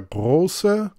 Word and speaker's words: Große: Now, the letter is pronounced simply as an S, and therefore it is Friedrich der Große and Großer Kurfürst.